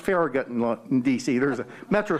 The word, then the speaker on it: Farragut: was a bilingual bicultural latino david oh it's pronounced farragut in dc there's a metro stop farragut square